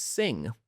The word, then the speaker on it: Singh: and he's like, "Yeah, like you, my name is Sing with a silent H on the end."